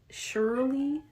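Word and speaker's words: Scherli: to onto this dude his name was Shirley like s c h e r l i okay one more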